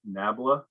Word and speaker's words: nabla: years and i've read it everywhere that it's pronounced uh that it's this upside down triangle they call it nabla but it sounds way too close to something